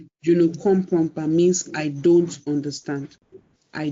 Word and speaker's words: je ne comprends pas: Je ne comprends pas. That is the pronunciation. Je ne comprends pas means I don't understand.